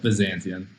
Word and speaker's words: Byzantion: How is it that we're supposed to be pronouncing Byzantium? Like, what are we, from the horse's mouth, we want to know. We call it Byzantion.